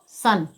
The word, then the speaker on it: son: SON, तो हम इसे क्या पढ़ेंगे, SON को सन।